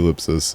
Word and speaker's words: ell!psis: way yeah check out elipsus I don't know if you said we said your name earlier but that's how you say it say it you Ellipsis I know it looks